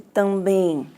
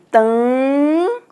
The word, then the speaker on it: também: Então, como nós pronunciamos esse também? Vamos lá fazer a transcrição. Vocês sabem que o som do T, o símbolo é o T mesmo, né? O A também. Mas olha aqui, tam, olha lá, tam. Então, toda vez que for fazer a transcrição fonética, a gente não vai colocar o M, porque o M só nasaliza.